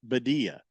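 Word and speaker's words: Birria: No, I mean, I pronounced it the American way, which is to take a perfectly good word in Spanish and then bastardize it.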